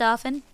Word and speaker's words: often: Every single one that did it, I was like, that's pronounced often.